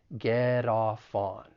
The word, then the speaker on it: get off on: Just keep in mind that the final T in get, once again, I'm from the US, so I will pronounce it as a flap T. Get off on.